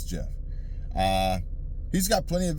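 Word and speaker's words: Geoff: I think it's Jeff it's spelled Geo f f but I think it's Jeff uh he's got plenty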